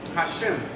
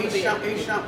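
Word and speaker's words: Hisham: It's spelled the way you said it, but it's pronounced Isham.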